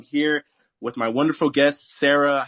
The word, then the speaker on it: Sara: Also, I just wanted to say my name is pronounced Sara cuz I'm from Poland. So, okay. Sara.